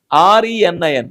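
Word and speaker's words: renin: This only thing is that R E N I N. This pronunciation is a rein only.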